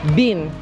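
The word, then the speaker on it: Bin: Uh you can call me Ban. It is be B I N.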